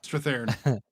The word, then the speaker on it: Strathairn: I always say his name wrong. but- Thorn, yeah. Strathairn.